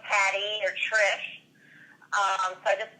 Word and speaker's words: Tris: The character's name is Tris Miles. That's spelled T as in Tom, R-I-S. Tris, you said like, or Tris, like kiss? Tris, like kiss? Yeah, Tris Miles, M-I-L-E-S.